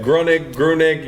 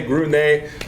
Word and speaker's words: Gruenig: Say it right, folks. Look, the debate continues, even where I work in Lafayette. Gruenig, you good. In Lafayette, they say Gruenig, so it all works.